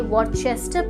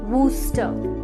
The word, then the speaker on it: Worcester: इस शहर का नाम रियल में वॉरचेस्टर प्रोनाउंस नहीं होता, बल्कि इसकी सही प्रोनाउंसिएशन है वूस्टर। वूस्टर है ना confusing, but that is the reality. इसकी प्रोनाउंसिएशन वूस्टर है, ना कि वॉरचेस्टर।